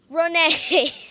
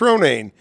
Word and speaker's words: Ronayne: kog County Executive Chris Renee you got it nobody ever pronounces my name right but you did Lily it is Chris Ronan your county executive and